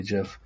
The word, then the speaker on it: GIF: makes for a good gift too anytime i don't say gif i say jif take that internet yeah